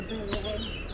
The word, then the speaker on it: billet: A billet, which is tickets. Or billet, which is tickets, you said? Yeah. Okay. B-I-L-E-T. Billet. But you don't pronounce the T.